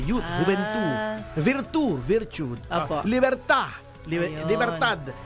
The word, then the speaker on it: Libertad: youth youth eh youth gentu virtu virt liberta Libertad h ba sa atin may kalyeng Libertad in Spanish ang pronunciation liberta Ayun silent yung D Yes ah